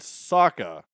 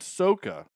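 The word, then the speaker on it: Sokka: created the art and said this is how you pronounce Aang and Saka and they're like oh my name is Ong and Soca ah no that's not right and and I know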